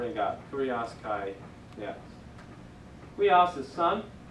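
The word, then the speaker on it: υἱός: If you say it together real quick, it's huios, huios.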